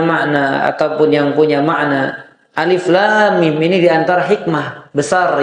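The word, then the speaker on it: الم: Nah, maka ayat ini dibaca sesuai dengan namanya. Alif, lam, mim. Ya, alif, lam, mim. Alif, lam, mim. Dibacanya demikian.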